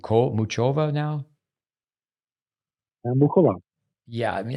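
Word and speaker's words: Muchová: zone and I think that's what and I mispronounced her name what's this young girl's name Muk muchova now mova yeah I mean that girl's game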